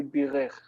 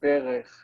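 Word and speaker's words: בֵּרַךְ: You would like to say birech. But no. But the PL rejects the doubling, okay, and we say berech.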